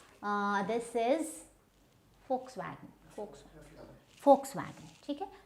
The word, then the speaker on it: Volkswagen: Then we have this is not Volkswagen. This is Volkswagen. Okay. So this is not the V sound is not there.